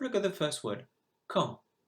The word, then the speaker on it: quand: Have a look at the first word, quand. The silent letter is the D because you do not hear it.